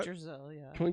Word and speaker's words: Yggdrasil: Yggdrasil, yeah.